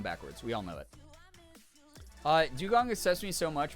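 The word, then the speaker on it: Dewgong: Dugong upsets me so much because my dyslexia, I always pronounce it as Dudong.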